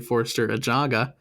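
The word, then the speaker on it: Forster Ajago: And that's mostly because Forster Ajaga, I found out that's how you say his name. It's actually Forster Ajaga, His paperwork not ready yet at the time of this match.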